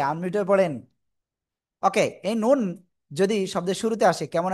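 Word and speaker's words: ن: এই যে ভিতরে একটা নোক্তা, জিব্বার আগা, এই যে এই যে। তারপর আবার উপরে তালুর সাথে লাগাবো, দাঁতের গোড়ায় না কিন্তু, উপরে তালুর সাথে লাগিয়ে আমরা উচ্চারণ করব। নুন। 4 আলিফ, 2 ঠোঁট গোল হবে।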